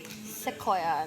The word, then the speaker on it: Sequoia: Na para bang, Sequoia. ito, Rodi. Sa leeg. So, ano namang masasabi mong Maricor na nandito na tayo ngayon sa Sequoia? This is Manila. Not Yeah. Sequoia, not Oceana.